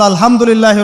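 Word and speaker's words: الحمد لله: বলে সে বলেছে আলহামদুলিল্লাহ ওই যে হা এর উচ্চারণ পরিবর্তন হয়ে গেছে এই কারণে অর্থ পরিবর্তন হয়ে দাঁড়াবে যে সমস্ত নিন্দা আল্লাহর জন্যে যিনি জগৎসমূহের রব আমার কথা কি বুঝতে পারছেন শুধু হা এর মাখরাজ ভুল হওয়ার কারণে এই সমস্যা হলো তাই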